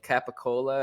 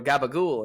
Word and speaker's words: capicola: Jersey that think that the correct way to say, capicola or capicola Mhm. or mozzarella is actually mutz or gabagool, and it's like, well, no, that's not true at all.